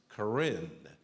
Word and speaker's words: Karen: the Korean people there it's spelled as if it's Karen k-a-r-e-n but it's pronounced Corinne and they are from